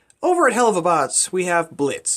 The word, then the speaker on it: Blitz: Over at Helluva, we have Blitz. The O is silent.